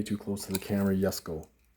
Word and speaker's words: Jesko: But it's the 2020, way too close to the camera, Jesko. Spelled Jesko, but it's pronounced Jesko.